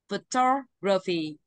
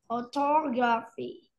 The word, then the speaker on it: photography: đọc theo cô ạ photography photography Đúng rồi photography photography không có r nha không có gr đâu ạ nhìn cái